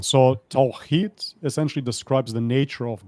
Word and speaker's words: Tawhid: Pronounced. I have my issues with it as well. It's Tawhid. Tawhid.